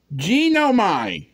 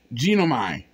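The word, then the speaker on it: γίνομαι: a Greek word here genomine genome g-i-n -o-m-a-i genomine I think that's that sounds about right the right way to say it which is translated is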